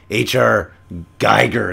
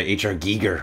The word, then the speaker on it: Giger: If you pronounce it Raz, it's no different than if you were to say H.R. Geiger instead of H.R. Giger, which is the proper pronunciation of the German phonetics.